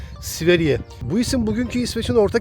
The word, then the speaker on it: Sverige: Buradaki telaffuzuyla Sverige.